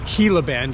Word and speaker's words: Gila Bend: here in Gia Bend Gila Bend is how it's pronounced and uh I think